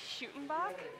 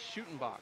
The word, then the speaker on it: Schutenbach: Yeah, it's actually Schutenbach. Coach has made up a name for me. So only to the handball world am I known as. And everyone usually mispronounces Schutenbach. So it's Schutenbach.